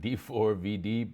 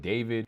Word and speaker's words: D4vd: Again, I kept pronouncing it D4vd, but David, and the body that was found in the Tesla.